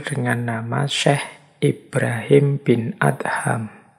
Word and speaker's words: Adham: nama syekh Ibrahim bin adham membacanya memang bin adham bukan bin Adam nama lengkap beliau Ibrahim